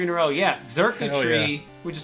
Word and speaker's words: Xurkitree: Yeah, Xurkitree, yeah. which is spelled with an X to make it just annoying.